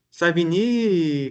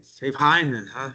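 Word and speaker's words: Savigny: Savini, que não é assim que se pronuncia. Em alemão, a pronúncia de Savini é outra coisa, né? É, é sain.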